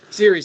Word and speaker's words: Ceres: Now, during the wandering, she comes upon a temple of, and I'm going to pronounce this wrong, is it Ceres or Keres? Ceres, like cereal.